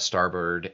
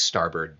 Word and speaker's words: starboard: from aqua we've had starboard on here before and liz rice was talking about starboard at starboard not starboard starboard it's one of those nautical terms that's just pronounced differently like bosun and and uh foxel that